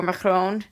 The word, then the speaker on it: Macron: for you know why did you vote for macron did i say it right shandy that was